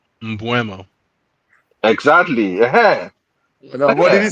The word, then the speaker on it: Mbeumo: Mbuemo. Mbuemo. Exactly. No, what did he say? Wait a minute. That's what I've been saying the whole time. What are you talking about? No, you say Mbuemo.